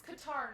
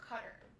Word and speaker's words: Qatar: And it's Qatar, not Qatar. Okay? A lot of Americans say it wrong, and it's really frustrating.